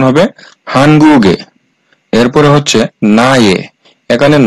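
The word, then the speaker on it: 한국의: সমান এ হয় অর্থাৎ এই উইটা যদি কোন শব্দের শেষে বসে তাহলে এই উ এর উচ্চারণ হবে এ।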